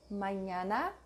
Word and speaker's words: mañana: Ñ, as in canyon, onion. Mañana, España, señor.